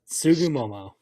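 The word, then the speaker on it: Tsugumomo: Yes, Sugumomo.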